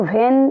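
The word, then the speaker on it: when: और ये वेन को वेन पढ़ेंगे इसमें से ये एच को देख के अगर वो ह का साउंड निकालेंगे इट विल बी रंग ओके यहां पे एच साइलेंट समझिए व्हाट व्हेन ओके और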